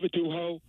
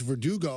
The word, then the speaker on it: Verdugo: But why in this case it's spelled straightforward? Yeah, Verdugo. Why is he saying the G is an H?